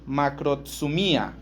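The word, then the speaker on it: μακροθυμία: La la paciencia en griego se dice macrotsumía.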